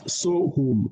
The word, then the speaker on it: Sohum: in Sanskrit, but he says, in Hindi, it's Sohum. That's S-O-H-U-M. Oh, okay. Thank you for that. Because I didn't know how to pronounce it.